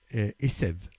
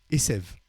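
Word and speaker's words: עשב: Esev. Hein? Asav, Esev. C'est juste l'herbe, c'est un B à la fin, et tandis que l'autre, c'est un V. Alors, dans l'herbe, c'est la lettre B est prononcée V.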